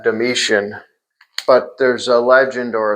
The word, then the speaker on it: Domitian: And so the legend is, there's a legend that the Emperor Domitian, Domitian, I pronounce that Domitian, but there's a legend